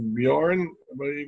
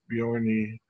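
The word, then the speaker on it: Björn: pronouncing my name because the J is pronounced like an age so they call me and you know silent like just born but it's properly pronounced Bjorn some people think it's be Oni alright next to continue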